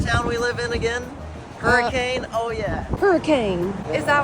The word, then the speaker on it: Hurricane: name of the town we live in again hurricane oh yeah hurricane is that why it's called hurricane but you guys don't pronounce it hurricane you pronounce it no cuz